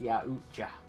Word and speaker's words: Yautja: Caleb says, who said it's pronounced Yautja?